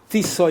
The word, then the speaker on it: Tisza: Tisza is because that's the second river in Hungary after the Donau is Tisza.